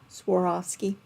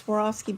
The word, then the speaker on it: Swarovski: Swarovski.